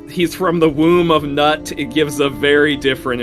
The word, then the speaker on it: Nut: So I'm gonna say you probably want to pronounce it as Newt, Yeah, because probably. if you say that he's from the womb of Nut, it gives a very different impression.